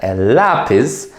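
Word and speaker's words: lápiz: in the classroom so pencil L lapis and accent is on the a just to make it obvious so L lapis and then we have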